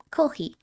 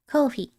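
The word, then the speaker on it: コーヒー: コーヒー、 Kohi is the Japanese pronunciation for coffee. コーヒー、 Kohi.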